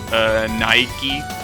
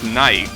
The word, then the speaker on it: Nike: Well, the thing is that we pronounce it as Nike, not Nike. Even though, again, in Spanish it wouldn't be pronounced like that.